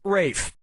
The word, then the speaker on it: Ralph: three yep Ray finds first name is spelled like Ralph but pronounced Rafe and his brother Joseph